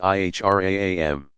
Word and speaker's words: ihram: the plain white wraps called the Ihram pronounced ihr a am the garb marks a